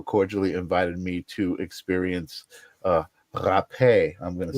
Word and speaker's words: Hapé: It's so like in the in the Portuguese, the R is pronounced as an H. So, but like like Hapé.